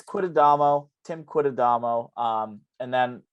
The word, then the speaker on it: Quitadamo: last name quidadamo um it's exactly it's spelled exactly how it sounds there are no frills no no fancy uh accents to it anything like that um and I'd get like kitadamo all the time with automo but it's